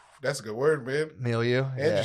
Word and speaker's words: milieu: Milieu. And Yeah. you said it right, too. Yeah. Hell yeah. I now I Google pronunciation after I've been embarrassed a bunch of times.